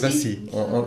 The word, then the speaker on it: Vassy: Alors, je ne sais pas si c'est Vassy ou Voici. Bon, je sais pas comment ça se prononce. C'est en quel pays? C'est en Lorraine. Oui, c'est Vassy.